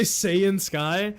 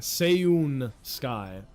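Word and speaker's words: Seiun Sky: Did you say Seiyun Sky? That's not how you say her name, though. It's S-E-I-U-N. Seiyun Sky.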